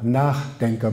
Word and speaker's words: Nachdenker: Für Luckmann heißt die Selbstdefinition phänomenologischer, also mir gegenüber Nachdenker, Betonung von nach. Nicht Nachdenke, sondern Nachdenker.